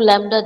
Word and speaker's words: Lambda: frequency which is new this is Lambda it is l a m b d a this is how you have to pronounce it okay Lambda and what